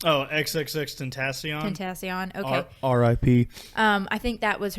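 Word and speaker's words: XXXTentacion: think it alludes to how do you say XX Tentacion? Oh, XXX Tentacion.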